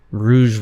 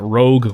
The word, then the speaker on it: Rouge: Rouge water. I think that's how it's pronounced. I accidentally started calling that rogue water, not realizing that it's not the word rogue.